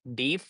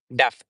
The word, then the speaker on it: deaf: And then thereafter pronunciation is deaf, not deaf, deaf.